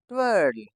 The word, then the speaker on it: twirl: Next TWINKLE, ट्विंकल, TWIG, ट्विग, TWITTER, ट्विटर, TWITCH, इसमें भी दोस्तों टी साइलेंट है, ट्विच, TWIRL, ट्वर्ल। जैसे गर्ल बोलते हैं ना, वैसे ही ट्वर्ल।